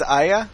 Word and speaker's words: Aya: not pronounced Yaya. Is it Aya. is Aya? Yeah. Oh, Yeah, it's Aya. Aya.